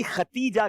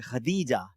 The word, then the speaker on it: خدیجہ: Normally ختیجہ کہتے ہیں لوگ, تا کے ساتھ پڑھ رہے ہوتے ہیں, لیکن ہم جب کتابیں پڑھتے ہیں تو یہ دال کے ساتھ ہے, خدیجہ, حضرت خدیجہ الکبریٰ.